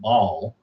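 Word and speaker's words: Baalial: for him he said make sure you spell it b a a l i a l like ball L like instead of b ball right so and a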